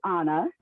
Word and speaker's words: Ana: I know it looks like Anna, but I pronounce it Anna because I'm Hispanic, and that's how you would say it in Spanish.